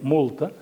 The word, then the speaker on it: murta: El coneixeu, aquest licor es diu Mirto, fet amb murta, i a l'Alguer li diuen multa, pronuncien multa, i fan sempre la broma de dir però no és una multa de trànsit, és a dir, que